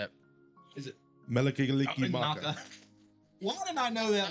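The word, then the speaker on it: Mele Kalikimaka: Can you pronounce it, John? Yes. How do you say it? Melikigaliki Maka.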